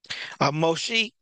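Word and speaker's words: משה: And so we're talking about the writing of Moses, Moshe. That's the other way. That's the Hebrew's name pronunciation.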